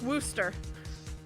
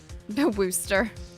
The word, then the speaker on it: Worcester: So Sarah, it's pronounced Worcester. Wooster. Worcester.